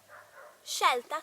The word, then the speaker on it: scelta: Instead, when S is followed by C and I or E, is she, she. So it's pronounced like the English version of SH, sh. For example, she, ski, or scelta, choice, scemo, like stupid.